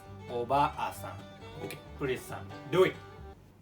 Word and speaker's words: おばあさん: Okay, obaasan. All right. The second one, obasan. Okay. Okay. 3, 2, 1. Obasan. So it's a little bit shorter.